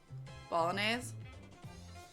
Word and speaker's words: Bolognese: Rhymes with mayonnaise, more or less. Bolognese.